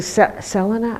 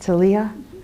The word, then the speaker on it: Selia: Um, I think Selena, am I pronouncing your name right? Selia.